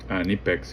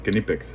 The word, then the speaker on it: Knipex: Nipex, Kipex actually is how you pronounce the brand. For those who don't know, it's Kipex. It's German. So, um anyways, I love this so much.